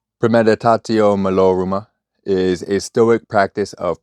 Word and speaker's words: premeditatio malorum: So this one, premeditatio malorum.